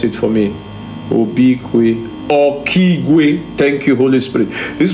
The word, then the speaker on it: Okigwe: I'm seeing something that called Obikwe. Obikwe. Holy Spirit, help me spell it, pronounce it for me. Obikwe. Okigwe.